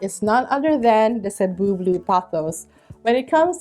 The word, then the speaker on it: Cebu: knowing how to properly say the name, it's pronounced Cebu, not Cebu or Cebu, but Cebu.